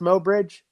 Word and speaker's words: Mobridge: mo bridge i love that nate is it pronounced mo bridge yes sir i just love that name i just yeah moe bridge i don't know what it is about it